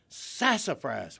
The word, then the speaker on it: sassafras: Okay, first of all, the emphasis on the first syllable was spot on, and a little bit of elongation of the S sound. Sassafras.